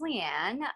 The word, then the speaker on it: Leanne: it on to leanne sorry if i mispronounced that no you said it right which is awesome i know it's spelt a little bit differently uh so my name is leanne i am 23 i